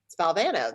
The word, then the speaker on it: Valvano: your name and he said well president it's Valvano that's how you pronounce it and then without you know just